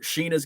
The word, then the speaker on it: Shiina: Sheena is male. And it's spelled Shiina.